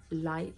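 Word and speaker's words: lychee: So I've just got coconut and light shampoo and conditioner. I think that's how you say it anyway, like L-Y-C-H-E-E.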